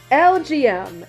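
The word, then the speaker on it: Elgyem: So, let me find Elegum, however you pronounce it. There it is. LGM.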